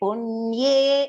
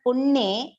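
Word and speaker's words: पुण्ये: Kshine punye. It's not punne, it is punye. That ye should come in clarity.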